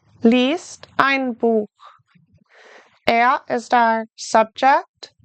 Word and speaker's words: liest: Liest ein Buch. Now remember, I-E is pronounced E. Liest ein Buch.